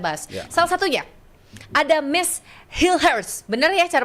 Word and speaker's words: Mees Hilgers: Salah satunya ada Miss Hilhurst, bener ya cara bacanya ya?